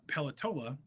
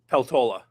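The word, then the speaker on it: Peltola: Mary uh Pelatollah Apologies if I pronounced your name wrong.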